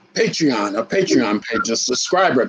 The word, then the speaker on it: Patreon: He has the, am I saying it right? Is it Pantheon or Pandrian? No, Patreon, a Patreon page, a subscriber page.